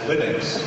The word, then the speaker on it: Linux: category how do you pronounce Linux well I pronounce Linux as Linux however however the total answer to that is